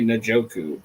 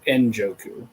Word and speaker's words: Njoku: There's people that still say Najoku. Njoku. Like, he's been here eight years. Like, they still don't pronounce it.